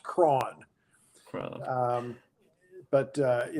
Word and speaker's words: Croghan: built uh Locust Grove okay people often say crowing or Croghan or you know it's pronounced all sorts of ways but it's it's apparently appropriately pronounced Kron crowd um but uh you know he was